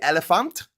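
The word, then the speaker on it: Éléphant: The Ivorian football team is known as Les Elephants. Elephant. They don't pronounce the T, and has produced world-class players such as Didier Drogba and Yaya Touré.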